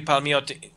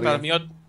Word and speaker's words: Palmiotti: in-depth interview with Jimmy Palmiotti. Is that how you pronounce his name? Palmiotti. Well, okay. Don't over-Italianize it. I think it's. But it's an Italian last name. Yes, but I believe he's American.